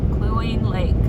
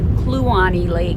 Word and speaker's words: Kluane Lake: Cluine Lake. I think I'm saying it right. I have no idea. I'm saying it phonetically. Actually, it's pronounced Kluane Lake.